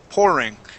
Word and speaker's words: pouring: into the room okay instead of poor po we want to say poor pouring okay so Tina was pouring coffee just that much Tina was poor pouring coffee pouring coffee okay good much better with that o sound all right um last